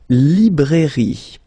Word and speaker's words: librairie: Then, la librairie. Okay, remember, I here, librairie. Final not pronounced.